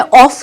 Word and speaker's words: of: अब आप अपना एक सेंटेंस बनाओ जिसमें ऑफ यूज हो रहा हो और वहां पर ऑफ को ऑफ नहीं बट ऑफ प्रोनाउंस करें।